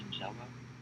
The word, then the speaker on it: Shigella: The other one is a bacterial strain, pronounced Shigella, and this one most often affects the adults, so that 70 plus age group category.